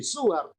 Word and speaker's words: Soeharto: Soekarno, Soeharto, Soekarno, Soeharto. Maka ini jadi peleburan dua bunyi O menjadi U sama di sini.